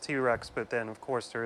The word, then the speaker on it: Tit Rex: an in wasn't it's supposed to be pronounced t-rex but then of course